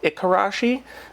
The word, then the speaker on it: Ikarashi: It can be spelled with a K or a G, Igarashi, Ikarashi. There's no really right or wrong way to spell it. The different spelling comes from phonetic differences around Japan and how you might pronounce the original name.